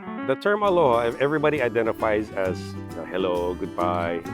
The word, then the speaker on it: aloha: and respect you so the word aloha i pronounce aloha because it's broken into two parts alo and your your presence